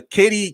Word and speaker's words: Katee: watch Battlestar Galactica and I know how to pronounce Tricia but I don't it's a Katie Katie okay let's start well let's let's go